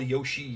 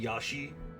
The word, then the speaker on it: Yoshi: Have I said that I hate when people call Yoshi Yashi? It's not that hard to pronounce.